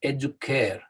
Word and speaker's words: educare: it was a hard coup so it was educare the this is uh also the way that